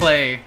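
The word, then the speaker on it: Klei: Cly Lobster. Is it Cly? Oh, Clay! Clay? It's Clay, yeah.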